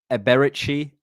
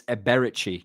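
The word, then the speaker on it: Eberechi: interview and he it's Eberici. Eza is how you say ezer. But it's Eberichi. Not even eici or eberi. Eberi. Eza. I've been seeing a berry a lot.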